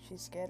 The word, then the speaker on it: She's Scarred: It's spelled She's Scarred, but it's said She's Scared, I believe.